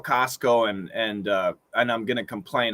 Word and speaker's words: Costco: You could say Costco with a stop T, but when we say it fast, we cancel the T. Costco.